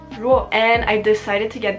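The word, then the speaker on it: 弱: and it means weak or weakness, pronounced ruo.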